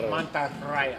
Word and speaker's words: Mantarraya: You have to roll your R's. Mantarraya.